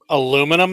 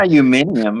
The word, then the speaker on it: aluminium: Aluminum, maybe. Oh. Metal kazoo. Aluminium. Yeah. Aluminium. 40%. Aluminium. You and your fancy British words. I'm using my new aluminium You mean driver. pronouncing it how it's spelt.